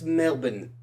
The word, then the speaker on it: Melbourne: that's right so he knows yeah how it's pronounced and it's Melbourne definitely want to get out there and see